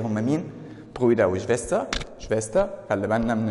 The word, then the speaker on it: Schwester: Schwester. خلي بالنا من النطق ديت. Geschwister. والتانية Schwester.